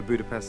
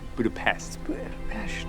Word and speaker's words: Budapest: Budapest. Yes, Natasha is using the Hungarian pronunciation, calling back her exchange with Hawkeye in Avengers.